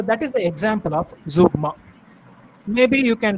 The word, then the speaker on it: zeugma: It is pronounced zeugma.